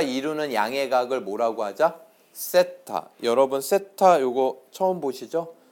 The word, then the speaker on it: 세타: 세타. 여러분 세타 요거 처음 보시죠? 동그라미에 이렇게 붙여준 거야. 이게 졸라맨 머리 같죠? 세타. 아시겠습니까? 네, 잘못했어요. 이걸 세타라고 읽고요. 세타, 번디기 발음. 세타라고 읽고요.